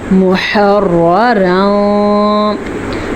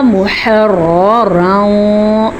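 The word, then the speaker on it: مُحَرَّرًا: جیسے کہ بطنی، محررا، ہا کے مخرج کا دھیان رکھنا ہے، ہا اور عین دونوں ایک ہی مخرج سے نکلتے ہیں، اور ان کا تلفظ کیسے ہوگا؟ محررا، یہ را بھی پر پڑیں گے اور یہ را بھی پر پڑیں گے، کیونکہ اس را پہ زبر ہے اور اس پہ 2 زبر ہیں، محررا۔ اس کے ساتھ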